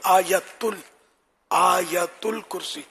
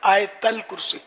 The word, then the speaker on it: آیت الکرسی: آیت الکرسی بولتے ہیں، صحیح تلفظ آیت الکرسی، یا بعض حمزہ پڑھتے ہیں آیت الکرسی، آیت یہ حمزہ بھی نہیں ہے، یا ہے آیت الکرسی۔ تو ہر ایک کو